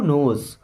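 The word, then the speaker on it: knows: हु नोज, who means होता है कौन, यहाँ पे के साइलेंट है, नोज मीन्स जानता है,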